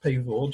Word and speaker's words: Pavord: Her surname is pronounced Pavord, she tells me.